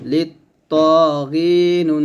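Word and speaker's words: لِلطَّاغِينَ: জাহান্নামা কানাত মিরসাদা এরকম তারপর লামকে ত খেতে হবে লাম ত যে লিত ত খারা যাব ত মোটা করে লিত ত গয়নিয়া জির গি জেরের পরে ইয়া সাকিন এক লিফ টান লিত ত গি নুন জবর না লিত ত গিনা লিত ত গিনা মিম জবর মা হামজা খারা জবর আ মা আ বা আলিফ দিয়ে জবর বান থামলে হবে মা আ বা এরকম একসাথে পড়লে লিত্তাগিনা মাআবা।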